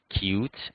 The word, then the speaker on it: Qt: to libraries such as Qt, which is written as Qt but usually pronounced as Qt, GTK, WX Windows, and Microsoft MFC.